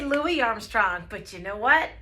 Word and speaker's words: Louis Armstrong: S so let's say his name correctly it's Louis Armstrong he was born in New Orleans Louisiana some